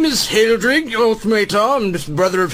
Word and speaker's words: Heldrig: Yes, my name is Hildrig Uthmatar. I'm the brother of Hedwig. I'm sorry. Would you spell that for just a moment, please? Most certainly. Hildrig, H-E-L... H-E-L... D-R... D-R... I-G. Hildrig.